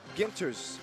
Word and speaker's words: Ginters: He's like, "It's Ginters, like in the word guitar."